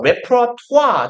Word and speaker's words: repertoire: 그래서 보통 그 발음 좀 이상해요. 웨프라토아 정도로 발음합니다.